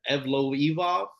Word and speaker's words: Evloev: about here, but Mansar Evloev. I don't know. I didn't know how to say his name, but the way they said it on the show completely blew me. It was like Evloev, but Mansar gets the unanimous decision over Diego Lopez.